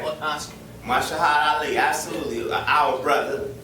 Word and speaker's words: Mahershala Ali: Mahershala Ali, absolutely, our brother, right?